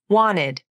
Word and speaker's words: wanted: When N and T are next to each other, between vowels, and the second vowel is unstressed, the T can be dropped from the pronunciation. Wanted.